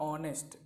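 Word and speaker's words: honest: ऑनेस्ट नहीं पढ़िएगा इसको, ऑनेस्ट, ऑनेस्ट इसका उच्चारण क्या था, ऑनेस्ट, ओ ऑनेस्ट।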